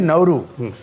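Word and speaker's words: Nauru: Oceania में, आपने जब बोला नौरू, जिसने बोला नौरू नहीं नौरू, देश का इतना सही प्रोनाउंसिएशन।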